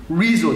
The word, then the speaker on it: Rezo: Rezo. Ich habe es vorhin falsch ausgesprochen, dafür Entschuldigung, Rezo.